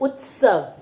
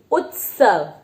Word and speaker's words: उत्सव: बढ़ते हैं जो है उत्सव उत्सव नहीं उत्सव जिसमें हमने उ आधा त स और व लगाया है जिस तरह से हम शब्दों का उच्चारण करते हैं उसके बाद ही हम उसको लिखित रूप में यूज करते हैं और वैसे ही उनको बोला जाता है तो उत्सव बोला जाता